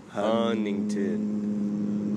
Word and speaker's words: Huntington: local is called Huntington they don't pronounce the T hunington Huntington hington close close